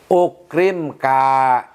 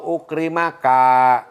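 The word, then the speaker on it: أكرمك: Ukrimka. Lebih baik soh ukrimka. Tidak boleh dibaca soh ukrimaka.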